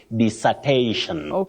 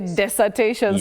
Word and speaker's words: dissertation: this not des and not Des you just say disertation disertation disertation actually that's another one I used to say desertation so thank you for that correction Willis dissertation it is all right you're welcome